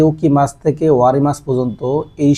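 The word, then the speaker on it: 起きます: আমাদের সর্বপ্রথম যে ভোকাবুলারিটা আছে এটা হচ্ছে উকি মাছ।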